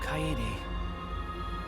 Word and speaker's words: Kaede: Kaede. I hate that they pronounce all the syllables of her name.